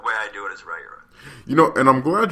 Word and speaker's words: Riyria: So you can pronounce it another way. The way I do it is Ryura.